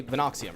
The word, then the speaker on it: Venoxium: was like, oh, it's pretty straightforward how to pronounce it, right? Like, you could say Veno, or you could say Venoxium, right?